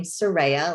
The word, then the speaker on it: Soraiya: am sorry of i pronounce my name soraya like a ray of sunshine and that's what a